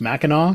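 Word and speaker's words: Mackinac: Uh, but then you go up north in Michigan, you you cross the Machin Bridge, which is actually pronounced Meno because somehow the C makes a W sound there.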